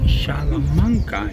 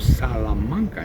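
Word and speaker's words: Salamanca: the people from there cannot even correctly pronounce the name of their town they say shamanka instead of salanka in correct Spanish you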